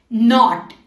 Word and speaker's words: knot: नॉट, KNOT, नॉट मतलब गठान, तो उसमें के बाद एन आ रहा है तो नॉट।